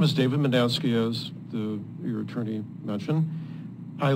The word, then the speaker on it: Mednansky: David Mednansky. The man with two last names. Yes, almost. I've even had it pronounced McDwansky, believe it or not. Okay. Even though it's M-E-D-N-A-N-S-K-Y. My name is David Mendansky, as your attorney mentioned.